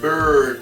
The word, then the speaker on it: bird: Aquí simplemente se queda en bird, es una vocal diferente.